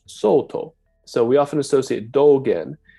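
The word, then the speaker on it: Sōtō: Sal dong in Chinese but in Japanese it's pronounced Soto so we often associate dolgin with the Soto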